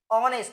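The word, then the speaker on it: honest: হ এর মত হয় এইযে অনেস্ট এটা আবার হনেস্ট করো না কেউ অনেস্ট এইচ এর উচ্চারণ কি হ এর মত হচ্ছে না সর অনেস্ট তাহলে এখানে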